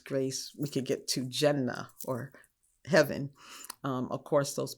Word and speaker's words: Jannah: hell, and is perhaps you can correct my pronunciation. Is it Jannah and Jahannam? Oh, Jannah. Jannah is paradise, is heaven.